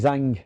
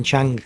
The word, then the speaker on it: Zhang: So it's like what they call that Chinese fighter, Zili Zhang. Yeah. You called him Chang.